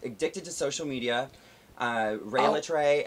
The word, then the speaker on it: Rhea Litre: to social media uh rey latrey everywhere it's true and that's how you pronounce my name goddammit yeah rey in